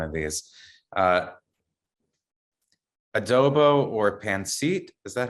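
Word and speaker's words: pancit: but i might up the pronunciation of one of these uh adobo or pansit is that how you say it good yeah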